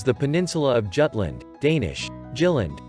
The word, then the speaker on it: Jylland: The western part of Denmark is the peninsula of Jutland, Danish, Jylland, pronounced U, land, bordering Germany.